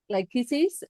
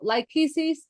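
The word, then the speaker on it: Lachesis: Now this is what I find interesting because he has um like lychesis and atropos. Now lyises do you want to spell that? Leis is l a c h e s i s is a strike 120.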